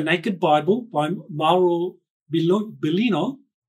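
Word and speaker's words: Biglino: Bible by Marl Bel belino it's not big Leno so some of you that think that no it's not that it's a Italian name belino the g is silent so Maro he refers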